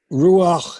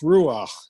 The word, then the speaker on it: Ruach: how do you pronounce Ruach? And Harry Kenmore, in his communication with Meher Baba, would often say "Ach du Lieber," which is German, but that the ch in Ruach is a guttural sound.